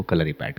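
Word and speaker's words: കളരിപ്പയറ്റ്: पर कॉम्बैक्ट हो, उसको कलरी पैट कहते हैं। ओके, और इसका सही प्रोनाउंसिएशन वही कलरी है? पैट, it's Malayalam word, so इट्स नॉट यू, इट्स नॉट पैटू, इट्स कलरी पैट।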